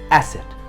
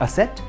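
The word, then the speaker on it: asset: इट्स एसेट, नॉट असेट, एसेट।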